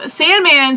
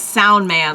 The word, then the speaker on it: Soundman: so Sandman starts explaining his actual name is soundman like Sandman is something that like you know your people like you got it you got my name wrong and it's actually soundman I'm like oh that actually makes a lot more sense sound man because of a sand